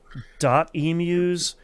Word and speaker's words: Emuse: Emuse, which I had to look up how to pronounce their studio name. It is emu uh which I was wrong about last week.